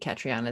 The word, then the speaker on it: Catriona: I think Catriona is how you pronounce it.